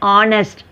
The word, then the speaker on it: honest: H you should not pronounce. An honest, an honorable man.